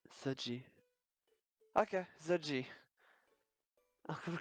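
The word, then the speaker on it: 学姐: X U E J E. It's uh try your best and that's good enough. ZG Z sounds like Z. Yeah. Zi. Okay. Zji.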